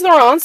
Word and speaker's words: Laurence: I didn't realize she was French, necessarily, like spoke French. So she's Laurence, and she made an